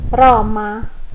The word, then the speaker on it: Roma: Por exemplo, na palavra Roma, em português, né? Nós diremos Roma, igual como a gente fala aroma. Roma.